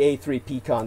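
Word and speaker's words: A3PCON: three p's in it so it's known as a3p con or a ppp c-o-n it would be a three p-con that's using the military style of acronym where they just put a number in for instead of three p's being applied into the acronym they'll just put the number three and a p so uh asian pacific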